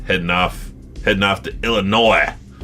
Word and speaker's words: Illinois: off heading off to Illinois I think it's pronounced Illinois illino illin illino illino what do you call